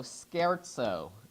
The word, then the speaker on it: scherzo: Sometimes Beethoven plays on this theme and writes a third movement that is, instead of minuet and trio, scherzo and trio. S-C-H-E-R-Z-O is pronounced scherzo.